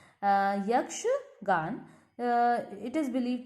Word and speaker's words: यक्षगान: अब यक्षगंगा नाम से लग रहा है, यक्षगान, आई pronounce it wrong. यक्षगान, इट is believe to originated in the coastal districts of Karnataka.